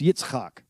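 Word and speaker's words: יצחק: In Hebrew, it's pronounced Yitzk.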